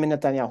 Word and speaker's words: Netanyahu: and this process has started uh with Benin Netanyahu a long time Israeli Prime Minister after returning